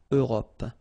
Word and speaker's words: Europe: Remember this final E. It's not really present, it only gives you the possibility to pronounce this P, PP at the end, okay? Europe.